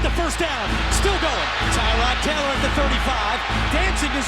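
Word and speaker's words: Tyrod Taylor: and he's got the first down still going tyron taylor at the 35 dancing his way inside the 30.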